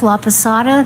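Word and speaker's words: Laposata: Elizabeth Laada. That's spelled L A P O S A T A.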